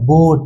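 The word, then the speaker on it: boat: बी ओ ए टी बी का उच्चारण ब से और ओ ए का उच्चारण अभी बताया ना किससे ओ से और टी का उच्चारण ट से तो जब जोड़ेंगे तो ये क्या हो जाएगा बोट ये क्या बन जाएगा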